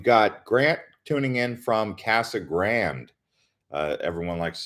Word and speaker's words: Casa Grande: We've got Grant tuning in from Casa Grande. Everyone likes to say Casa Grande, Casa Grande, but we're calling it Casa Grande.